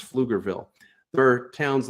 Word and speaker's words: Pflugerville: Everyone knows that PF sounds like F, though. It's really easy to pronounce Pflugerville.